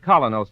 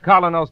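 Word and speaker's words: Kolynos: teeth isn't that correct we honestly believe that colos toothpaste will help clean and polish teeth more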